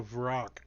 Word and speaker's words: Vrock: I know what you ROC, rock, giant bird. No, No, Vrock. Vrock.